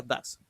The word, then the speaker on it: does: sino does o does se escribe does pero se pronuncia dases Sí el verbo se